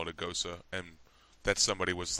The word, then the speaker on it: Gose: Gosa? Yeah, That's how you pronounce the E at the end? Yeah, it's Gosa. Yeah. G-O-S-E, Gosa, got it. Yeah. I always thought it was pronounced Gose up until I heard somebody